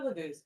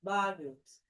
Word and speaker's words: Laguz: All right, so let's go to Laguz. Laguz. The accent is always on the first syllable in the Elder Futhark runes.